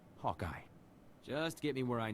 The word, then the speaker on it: Hawkeye: It's pronounced Hawkeye.